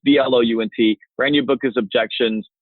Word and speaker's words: Blount: Last name is pronounced Blount, but it's spelled Blount. So for most of the country that don't live in the Southeast, it's a pretty tough thing. But it's Blount.